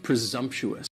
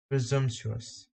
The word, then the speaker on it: presumptuous: is presumptuous guy and presumptuous has four syllables and the stress is on the second syllable and the S almost sounds a little more like a z presumptuous presumptuous presumptuous presumptuous presumptuous it